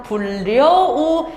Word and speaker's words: 불여우: 색연필이 아니라 생년필, 그 다음 불려우, 식용유라고 해서 없었던 니은이 들어간다고.